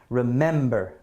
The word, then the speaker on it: remember: about that r M remember remember is that is a stress in the first syllable is it ra remember no it's not remember remember remember I would say this is definitely going in column B I say the stress is definitely on the second syllable here right okay so